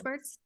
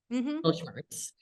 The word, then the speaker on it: Mittelschmerz: The closest thing I could get to was, you'll have to correct my pronunciation, but the German middle pain word. Mittelschmerz. Mittelschmerz.